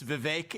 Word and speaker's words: Vivek: for the longest time it's Vivek it rhymes with cake I'd expect someone oh